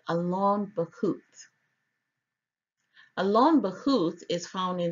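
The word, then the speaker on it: Allon Bachuth: So the second name is pronounced Alon Bahut according to the Strong's Concordance online.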